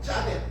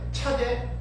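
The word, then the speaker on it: צדי: 이단의 문자는 바로 짜대 차대 짜디크 여러 가지로 이렇게 발음을 하는 짜디크는 말과 낚시받는 낚시 낚시가 생겼어요.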